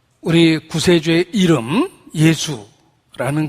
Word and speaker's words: 예수: 담아 놓으셨다 라고 이야기합니다 예수 라는 표현 자체가 영어로 지져스 라고 발음 되지만 헬라의 발음을 따서 아 예수라는 이름의 사용을 한다 그런데 이 헬라의 여섯